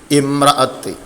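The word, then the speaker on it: امرأة: Answer D, ഇമ്രഅത്ത്. ഈ വസലിൻ്റെ അലിഫാണ്, അതിനെന്ത് കെസറിട്ടാണ് വായിക്കേണ്ടത്, അപ്പോൾ ഇമ്രഅത്ത്.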